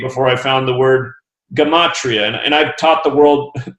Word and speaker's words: Gematria: So it's easier to say Gematria for sure. Right. I've even listened to pronunciations before the show just to see if I got it right.